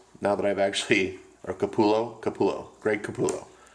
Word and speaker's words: Capullo: for 27 years I always thought it was Kapoor yo which is how you pronounce double elves I'm a so cowboy and